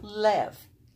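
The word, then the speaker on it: לב: And this is lev. Without the dogish, it makes a V sound, remember?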